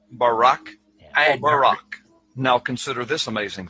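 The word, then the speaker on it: ברק: or a flash of light in Hebrew is pronounced Barak bar now consider this amazing fact the book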